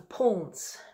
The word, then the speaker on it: Pulnz: clarinet written in 2014 called the poles which is spelled pul and Zed the piece was written for